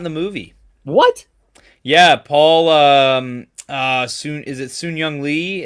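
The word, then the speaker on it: Sun-Hyung Lee: Sun Young Lee is how he pronounces his name.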